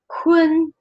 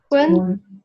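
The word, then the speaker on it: 混: have for example here, Hun. It's not just Hun. Those two are a little bit combined together, so it's more like Hun. It's like you put a in between. Hun. Yes. Hun.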